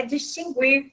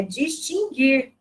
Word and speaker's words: distinguir: É interessante que o verbo, ele não é distinguir, tá? Muitas pessoas pronunciam este verbo com a pronúncia, né? Trazem no verbo a pronúncia da letra U, e não tem pronúncia da letra U. É distinguir.